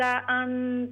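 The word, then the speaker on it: أنا: लनफिदल बहरु क़ब्ल अन तनफ़द कलिमातु रब्बी वलौ जिअना बिमिस्लिही मददा। वलौ जिअना बिमिस्लिही मददा। कुल इन्नमा अना बशरुम मिस्लुकुम। ये अलिफ साइलेंट है, अलिफ नहीं पढ़ेंगे। कुल इन्नमा अना बशरुम।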